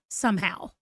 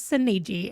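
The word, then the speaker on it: Soneji: I know that my cousin and I decided that it was pronounced Sonhow like like that's how we decided it was pronounced. And then um when the movie came out, I was like, "Girl, his name is Seni." And we've been saying it wrong for years.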